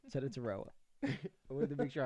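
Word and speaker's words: Tetairoa: At 8, with the Panthers, I have them taking Teta Taroa McMillan. I wanted to pronounce that right. Teta Taroa.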